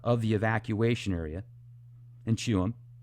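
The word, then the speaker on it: Tuam: I look it up, it's pronounced Chewham, according to the research that I did.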